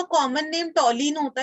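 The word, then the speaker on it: toluene: ऐसा प्रोनाउंस करने में लगेगा कि टॉलुइन, लेकिन टॉलिन इज द करेक्ट प्रोनाउंसिएशन, तो आप टॉलिन बोलना है इसको, ठीक है, टॉलिन।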